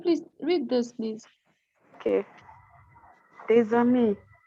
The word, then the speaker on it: des amis: Des amis. Deza. So it's a z. Don't try, please. Thank you, Fumi. It's Deza. You got it.